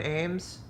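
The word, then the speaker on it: Ambs: watched this guy Brian Ames it's got cool last name it's a MBs but it's pronounced Ames I just think that's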